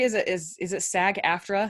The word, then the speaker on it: SAG-AFTRA: it is is it sag-aftra is that how you say it sag-aftra yes okay gary is a